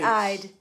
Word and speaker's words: Ide: She says you say Ide. I-D-E. Like you pronounce it.